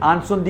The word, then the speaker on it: Incendies: തരിച്ചു നിന്നുപോയ ആ സിനിമയാണ് ഇൻസെന്റീവ്സ് ഫ്രഞ്ചിൽ ആൻസന്തി എന്നാണ് ഇതിന്റെ ഉച്ചാരണം അഥവാ ദി ഫയർ ശരിക്കും